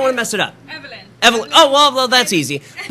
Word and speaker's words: Evelyn: name I don't want to mess it up Evelyn Evelyn oh well that's easy okay very good